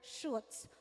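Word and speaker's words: Schutz: So pagpo-pronounce mo yung surname niya is shoots siya no? Silent sea.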